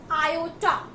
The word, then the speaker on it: iota: अब ये I होता क्या है, तो I को हम रीड करते हैं iota. This is pronounced as iota and the value of I is equals to under root -1.